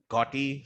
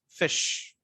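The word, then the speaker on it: ghoti: pronounce it as duty some of you might pronounce it as gotti some of them are pronounced gothi or some of the pronounces okay fine but if i pronounce it it would be called as called as fish okay now you all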